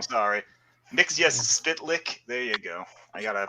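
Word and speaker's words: Mxyzptlk: friend's name not not his uh correct sorry mix yes spit lick there you go i gotta pronounce it like gilbert godfrey not mitchell mexia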